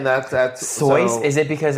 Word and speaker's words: Seuss: So, you probably pronouncing Dr. Seuss's name wrong. Oh, it's actually It should be pronounced as Soy, rhyming with voice.